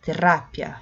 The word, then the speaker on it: terapia: Porque no português a gente fala terapia, a sílaba tônica é o pi. Já no espanhol, terá, é o ra, terapia, sim.